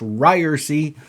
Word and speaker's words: Ryerse: And remember that has two B's, just like it's pronounced Ryerse is pronounced Ryerse.